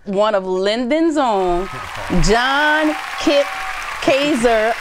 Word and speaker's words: Kaczor: Yeah, because it's Kaczor, right? Yeah. I know how to spell it real good.